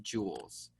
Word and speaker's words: joules: Remember, it's pronounced like jewel, like jewelry, but it's spelled like this, joules.